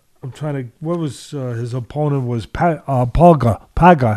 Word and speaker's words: Pauga: What was his opponent was Paga. How do you pronounce it? I want to make sure I'm saying it right. Paga, right? I would call him Zach Paga. Yeah, Pauga.